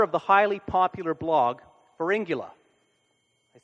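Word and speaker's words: Pharyngula: and the author of The highly popular blog Fula I say that right you said it right Fula which won the co fa Award for best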